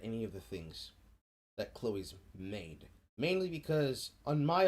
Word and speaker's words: Chloe: your own research right he is indeed pronouncing her name khloe it's pronounced chloe it is it is chloe it's just i don't